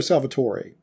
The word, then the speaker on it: Salvatore: Is it Salvatore or Salvatore? Salvatore. Is how I've always heard it pronounced, and I believe how he says it.